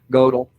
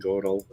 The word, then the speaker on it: Gödel: Godel. Godel. Oh, is that Google? Yeah, well, that was Google pronunciation. Where's Emma says? Gödel's incompleteness theorem. Okay, Isabel was saying Gödel.